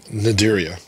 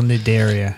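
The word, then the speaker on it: Cnidaria: you some examples um naderia how do you spell nedaria c-n-i-d-e-r-i-a so the a-r-i-a that's not fun the c is silent yeah well look if i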